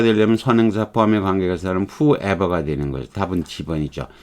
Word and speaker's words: whoever: 야, whoever 발음 주의해야 됩니다. whosoever가 아니고 whoever예요. whoever.